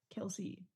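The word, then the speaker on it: Kelce: D look at this Google says Kelsey no it's kelse the dad because kelse is in my lexicon for no other reason that his dad came out and said it's actually y say it wrong this whole time it's kelse I literally just I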